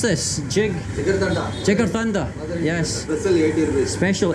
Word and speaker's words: Jigarthanda: How do you pronounce this? Jigarthanda. Jigarthanda.